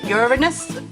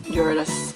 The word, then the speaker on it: Uranus: pets left to do now I've Got Ur Uranus Uranus or Uranus that's how you say it and Neptune and